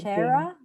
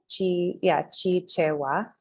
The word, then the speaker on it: Chichewa: So what I was thinking, Chichera, you say? Chichewa. Chichewa.